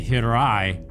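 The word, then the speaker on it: hiraeth: It's like here I th. But you have to roll the R. But then other pronunciations don't say the H, they say hirai. But I think you do say the TH.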